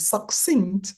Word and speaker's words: succinct: and she did the same thing with succinct and success. The C in between those words is very important.